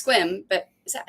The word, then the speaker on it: Sequim: It's Squim, but is that how it's spelled?